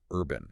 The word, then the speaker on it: URBN: And interestingly, they're owned by Urbn, pronounced Urban.